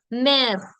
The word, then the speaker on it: mère: Père, mère, frère. All of them have an accent grave on the letter E, which makes the sound air. So père, mère, frère.